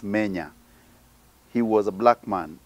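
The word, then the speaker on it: Menes: In books, they spell it Mene. Wrong, it's Menya.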